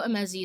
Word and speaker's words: Emezi: I know Emezi is how you say the last name, but this is a supernatural, like, fantasy romance.